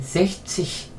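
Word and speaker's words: sechzig: 그래서 편안하게 섹치 하려고 S를 빼버린 것이다.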